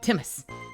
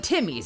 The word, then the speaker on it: Timmy's: runs on Timmy's Timmy's is it just Timmy's is that how you say it just like Timmy or is it timus timus timus how do you pronounce that name I assume it's just Timmy's right Timmy's okay Canadian